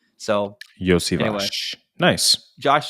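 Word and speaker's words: Iosivas: And he's right because I've seen videos of Andre saying how to pronounce his name. It's Yosivash. So Yosivash.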